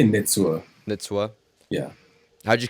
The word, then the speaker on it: Nitsua: nintu beets what's up how do you say it again it's nitsu or nitsuo uh i say nitsua that's what yeah how'd